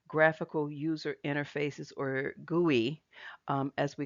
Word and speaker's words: GUI: Now, guey, which is GUI, the acronym GUI, we pronounce it guey, stands for graphical user interface.